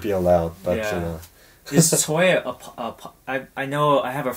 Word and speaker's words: Choi: Yeah, the Koreans say Choi. Oh. So that's the Korean Choi, that's the Korean pronunciation. And then it kind of went into Choi and then later Tsoi, the way the Russians would pronounce it.